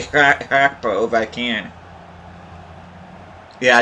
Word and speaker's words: Gakpo: to try to say Hakpo if I can. Yeah, it's Hakpo, not Gakpo. Because the G sounds like an ancient Dutch.